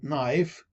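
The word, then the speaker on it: knife: لغات اخرى ايضا مثلا في اللغه الانجليزيه لدينا كلمه نايف تبدا بالكي ولكن لا تلفظ الكي هذه اما من اجل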